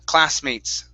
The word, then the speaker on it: classmates: one is class classmates instead of close classmates mates it's cla open your open your the your mouth on that ah cla classmates classmate okay with an s